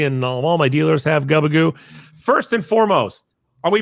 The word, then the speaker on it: Gubagoo: people and saying it's Gubagoo for a couple of years now. So you're going to have to forgive me for the misbranding of the correct pronunciation. So it's like scuba, Guba. Yeah, Gubagoo. There you go.